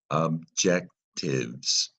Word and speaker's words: objectives: Now, a quick look at the syllables. Objectives, right? In the red is this stressed syllable, objectives. And I took the E out a little bit because you hear a silent, not a silent, I'm sorry, a short I.